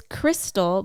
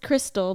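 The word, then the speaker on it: Krxstxl: it's yeah it's pronounced it's pronounced Crystal but it's spelled like with a bunch of x's in it why what I don't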